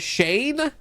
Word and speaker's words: Shane: right yeah is it is it pronounced chain that's how you pronounce it are you freaking kidding me you took him as the shepherd is it Shane ey what the heck I see Cheney Chaney Shane I see four different ways to say this you've